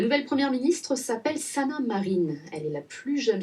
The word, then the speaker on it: Marin: comme ça a2a et comme un marin mais ça se prononce marine c'est comme ça et